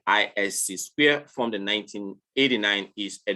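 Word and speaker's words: ISC²: which in a small in a short form pronounced at isc square formed in 1989 is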